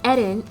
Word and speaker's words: Eren: The first one is Eren, and yes, I say his name like that. I'm Japanese, the show is Japanese, so I'm gonna use the Japanese pronunciation.